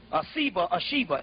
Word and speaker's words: Shiva: Shiva, S-I-V-A, Shiva, they pronounced it.